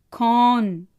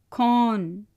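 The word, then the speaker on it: कौन: கான். கோ ந கான். Generally gown சொல்கிறதில்ல, கான். ய கான் ஹே.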